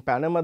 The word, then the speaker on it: Panama: as I said uh banana the stress is on the second syllable you can see the stress marker is on the second uh syllable here in Panama the stress is on the first syllable and you can say